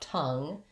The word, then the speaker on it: tongue: So I'm going to think about tongue as sounding like T-U-N-G, and the sound in these three words is vowel schwa.